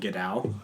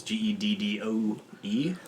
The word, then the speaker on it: Geddoe: I don't know the actual pronunciation of his name, but I always said Gedao. It's Geddoe.